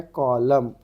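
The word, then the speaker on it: column: उसके बाद में क्या है, कॉलम, N साइलेंट हो गया आपका।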